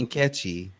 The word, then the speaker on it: Nkechi: That's her real name, the Checky Diallo. She was arrested on multiple charges. It's Nkechi. I said it wrong.